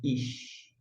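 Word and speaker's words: אִישׁ: Quando tem o Hirik e Yod, aí vai ter um som de I. E aqui nós temos o Shin, som de CH, como na palavra chalé. E você vai pronunciar Ish.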